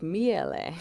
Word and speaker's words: Miele: So what's the proper pronunciation? I think it's like Miele.